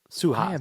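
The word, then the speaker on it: Suhas: Um, Suas. I'm call him Congressman Suas.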